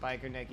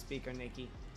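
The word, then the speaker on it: Biķernieki: me to pronounce it he said that Americans pronounce it like biker Nicki but that's not how it's pronounced it's pronounced speaker Nikki so I was trying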